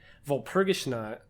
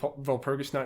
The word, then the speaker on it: Walpurgisnacht: But this really powerful witch that they talk about the entire season, Walpurgisnacht, I think it's how it's pronounced.